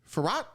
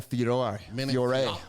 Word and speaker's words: Fiorot: Manin Fiorot? Oh, that's Manin Fiore. Fiore. That's a French way of saying it.